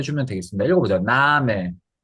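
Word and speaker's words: Name: 좀 뭉개지 그냥이 끝에 있는 애도 좁은 애로 발음해 주면 되겠습니다 읽어보자 나메 메 이게 자연스럽게 끝이 죽으면서에 발음이처럼 이게 참고로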